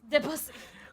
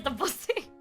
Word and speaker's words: Debussy: It is Debussy. That is this. There's a different pronunciation for their name, but it is widely known that is literally Debussy.